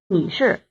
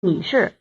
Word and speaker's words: 女士: 女士， Actually, the title 女士。